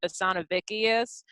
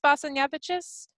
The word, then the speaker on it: Basanavicius: He pronounced it Basanavicius, which is the most redneck incorrect Yeah, like it literally has pronunciation. like the hints of the word hickey when he said that, Vicky. Yeah. Exactly. And so I think it's pronounced Basanavicius. That's as close as I think I'm gonna get.